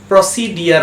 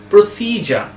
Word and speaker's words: procedure: এই ওয়ার্ডটা আমরা সবাই উচ্চারণ করি প্রসিডিয়ার বলে, প্রসিডিয়ার, কিন্তু এই ওয়ার্ডটার ঠিক উচ্চারণ হয় প্রসিজার। প্রসিজার।